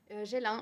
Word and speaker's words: Ghislain: Anne, je ne sais pas, je ne vous ai pas demandé comment on prononce Ghislain. Gélin, mais Gélin, peu pardon.